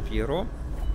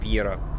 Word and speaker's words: Пьеро: Вот тут у нас руны и этот бальзам Пьеро. Пьера, в смысле. Я вот его постоянно, на самом деле, буду, наверное, Пьеро называть иногда. Потому что как-то сразу такое именно ударение в голову лезет.